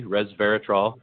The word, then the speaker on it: resveratrol: of the the coffee itself and you did pronounce it perfectly resveratrol and yeah it's a great question it turns